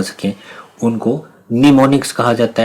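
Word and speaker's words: mnemonics: इसमें am silent है और इसको निमोनिक्स आपने पढ़ना है।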